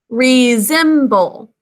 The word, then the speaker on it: resemble: say resemble with me resemble three syllables the first syllable is with in an open syllable saying its name it's that prefix re second syllable z three sounds we're using this z phonogram for that sound next up can you